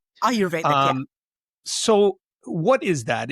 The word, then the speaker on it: Ayurvedic: So, so what um I wanted to ask you a little bit about um the Auroretic um Ayurvedic or Auroretic, right? Is that how you say it? Ayurvedic.